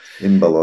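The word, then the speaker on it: Embaló: acho que está correto em baló estará corretíssimo sim sim baló tem o acento no or Não há dúvida eh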